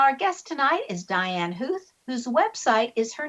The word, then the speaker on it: Huth: Even though it sounds like a hoof, it's not pronounced with o's in there.